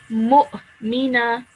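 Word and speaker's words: مؤمنة: So the hamza is the letter with the sukoon on top of it. So that's why it would be mu, like that.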